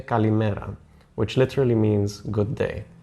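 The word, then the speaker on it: καλημέρα: To say good morning, you say kalimera, which literally means good day.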